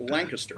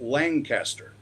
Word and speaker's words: Lancaster: I knew that in Dallas County, the town is pronounced Lancaster. Uh-huh. In Fort Worth, the street is pronounced Lancaster.